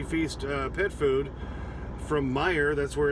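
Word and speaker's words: Meijer: uh pet food from meyer that's where it's going m-e-i-j-e-r that always drives me crazy because there's a j in there you don't pronounce so yeah if you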